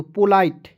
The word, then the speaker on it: polite: चलिए उसके बाद देखेंगे POLITE तो पोलाइट, पी का प ओ से ओ की मात्रा, LITE को पढ़ेंगे दोस्तों लाइट, एल का ल लिख दीजिए और ITE का उच्चारण आइट के रूप में कीजिए तो क्या हो जाएगा पोलाइट हो जाएगा कि नहीं।